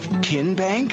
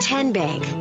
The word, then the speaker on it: TN Bank: the name tn bank no tin bank uh-uh so what is it ten bank 10 as in tennessee right here where all